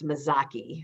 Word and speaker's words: Mazzochi: sign in italian that's often pronounced as a k sound like yoki or uh bruschetta so it's mizaki so so key at the last um part of the name but my name has